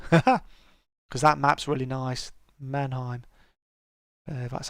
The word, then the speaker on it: Mannheim: do some gliding because that map's really nice mannheim that's how you pronounce it so that's cool so yes we